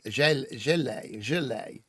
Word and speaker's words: gilet: It's a soft G, like a gilet.